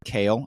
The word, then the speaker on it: Kale: Kyle is going to or kale actually it is pronounced Kale like the salad um all of that